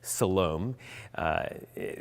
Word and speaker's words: Siloam: That's how you say it, Siloam.